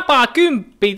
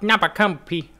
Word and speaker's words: NAPAKYMPPI: NAPAKYMPPI! That's how you say it, not NAPAKYMPPI.